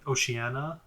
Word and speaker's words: Oceania: I think you just pronounced it poorly. Oceania.